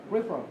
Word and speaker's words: peripheral: Câu này, từ này chúng ta cứ xoa gần hết, từ này chúng ta đọc là peripheral. Okay. Đấy, không có peripheral. Nhấn vào âm số 2, xoa tất.